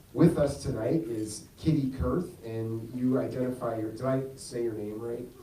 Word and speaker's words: Kurth: As a guy named, I'm trying to be sensitive about Kitty Kurth is pretty easy. It rhymes with earth.